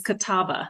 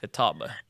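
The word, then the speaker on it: Catawba: sister I think I am but you actually pronounced it correct it is Kataba Kataba yes I assume that's a Native American word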